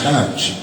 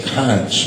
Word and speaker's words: conch: Phonetically, that spells conch. But yet that's the quickest way to pick out a tourist is to hear him say conch because it's pronounced conch.